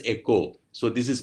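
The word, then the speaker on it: oikos: understand this word eco derived from the greek word o i k o s which is pronounced as echo so this is pronounced as echo this word means home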